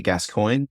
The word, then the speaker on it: Gascoigne: Google or look for on LinkedIn gascoin surname is pronounced spelled g a s c i g